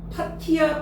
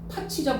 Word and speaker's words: 팥이: 그런데 파티야 파치야 파치죠. 파치 오케이 그럼 파치로 발음하는 거 맞는데 이러한 의운 변동을 뭐라 합니까? 뭐라고 해요? 파티가 파치로 바뀌었잖아.